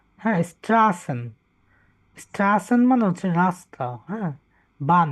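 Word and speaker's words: Straßen: 101 আচ্ছা 101 এটা এস সেট বা ডাবল এস এর মত উচ্চারণ হবে হ্যা স্ট্রাসেন স্টাসেন মানে হচ্ছে রাস্তা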